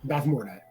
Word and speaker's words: Bavmorda: In what 1980s fantasy film will you find an evil sorceress named Bavmorda? How'd I do on that pronunciation? Because I was You were like 90% there. Bavmorda.